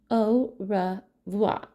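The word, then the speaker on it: au revoir: tell my fans OA you say it like this oh ra VA that's French for goodbye on my door I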